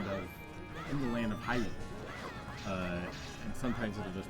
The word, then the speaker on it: Hyrule: the word where they sometimes emphasize the why a lot and it'll say like uh oh in the land of in the land of Hyrule.